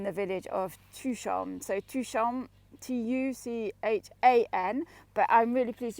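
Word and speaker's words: Tuchan: it like that because that's how i say to pronounce it is number two two and then sean like the sun is shining here so it's been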